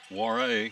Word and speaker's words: Warre: On the pass there, it goes to Warre, is how you pronounce her name.